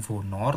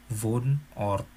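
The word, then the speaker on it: Wohnort: atau tempat tinggal ya bacanya bukan fonor tetapi pun or Nah untuk menanyakan tempat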